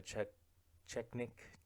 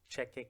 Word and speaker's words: Chechik: Anyway, so I think you guys know who Adriana Chechnik Chechik is. She's a porn star. Wait, I think I said her last name wrong.